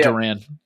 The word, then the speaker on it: Duran: for everybody traded away everybody Kasa see you Durant Jan I combine that there it's pronounced Duran what is it it's D an oh okay